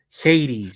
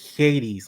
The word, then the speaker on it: Hades: because you say it Hades you don't say you don't pronounce the h is Hades like that gives you